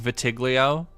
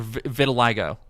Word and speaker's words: vitiligo: going to talk about like vitiglio or vitiligo. Sorry, yeah, it's one I need to relearn how to pronounce.